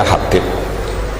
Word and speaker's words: Habib: Ada yang nulis Abi Abdurrahman Habib As-Sulami, itu di harokatnya kitab itu ada yang nulis Hubab. Yang benar, oh okay, yang benar itu bacanya Habib.